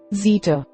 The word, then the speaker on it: zeta: Z, zeta, zeta. In ancient Greek, zeta sounds like the ZD in the name Mazda. In modern Greek, zeta sounds like the Z in the English word zone.